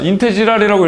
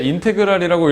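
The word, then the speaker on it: integral: 어 그 내가 아니야 인티지랄이라고 읽으면 안 돼. 인테그랄이라고 읽어야 돼라고 저번 시간에 얘기했거든.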